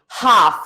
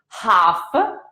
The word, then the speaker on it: half: pronounce the h and you don't have to pronounce the letter l like in the word in the verbs walk and talk it is it works the same half so don't say alpha